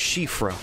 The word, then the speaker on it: Siofra: elden ring videos we're going to be covering shifa river and i googled it i didn't pronounce this one wrong it's irish and it's pronounced shifra okay just wait till someone tells me i've